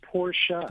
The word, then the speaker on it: Porsche: What is the correct pronunciation? You run a Porsche dealership. Well, it's somebody's name. It's Porsche.